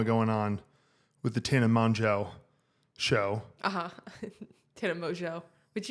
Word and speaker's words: Mongeau: Well, I think she gets it wrong because it's pronounced Mongeau or Mongeau. But I think it's like French or something.